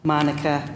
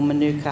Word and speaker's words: Manuka: In Tasmania, leatherwood honey is also a unique and popular flavour, and of course many people will have heard of Manuka or Manuka honey, depending how you choose to pronounce it.